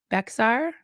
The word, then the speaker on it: Bexar: The county in Texas that I was born in is called Bexar. You Bec yeah, Bexar, right? You'd probably pronounce it wrong, so I'll tell you.